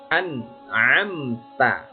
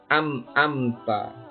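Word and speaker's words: أَنْعَمْتَ: Nah, di sini di an'amta. An'amta. Ada yang salah membaca biasanya amta. Nah, anak-anak biasanya ada yang salah membacanya ini amta. Yang betul bagaimana? An'amta alaihim ghairil Di sini juga ada yang salah.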